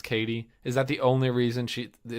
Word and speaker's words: Cady: Is it just that her friend calls her Caddy, even though it's Katie? Is that the only reason it's spelled Cady?